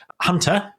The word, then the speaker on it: Huntr: And it was an interview with Sam Wright, and Sam runs a company called Hunter, which is spelled Huntr.